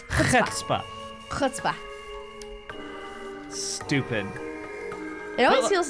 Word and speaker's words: chutzpah: It's nice to see that at least one of you has some chutzpah around here. Chutzpah. Oh, really? Mm-hmm. Chutzpah? Chutzpah. Why don't you pronounce the C? It's, I believe it's Yiddish.